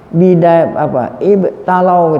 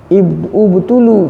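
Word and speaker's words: ابتُلوا: Mereka kaum muslimin ibtalau gitu, ubtulu bacanya. Ubtulu, mereka diberikan bencana oleh Allah bitaifatin minal munafiqin, dengan adanya ya sekelompok orang munafik.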